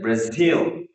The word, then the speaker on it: Brazil: And then here, in case of Brazil, the last syllable is stressed, still, like Brazil.